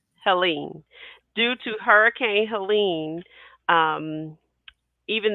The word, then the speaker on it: Helene: And this episode probably will seem like deja vu to you all, but last week, due to the Hurricane Helena, am I saying it right? Helene.